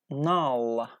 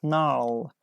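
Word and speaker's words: gnarl: foo come your answer unfortunately is not correct not l now like now so we don't pronounce g g is correct answer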